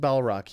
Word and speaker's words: Balrog: Rock there we go it's pronounced ball Rock yep but it's spelled balrog I believe with a G basilisk is Harry Potter